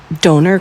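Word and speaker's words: döner: They have doner kebabs. I had to think it rhymes with boner.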